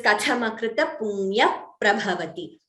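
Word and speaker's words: कथमकृतपुण्यः प्रभवति: Similarly, last line, Kathamakrita Punya Prabhavati. So you see, I'm not pronouncing the Visarga completely. It is Kathamakrita Punya Prabhavati. That is Upadhmaniya.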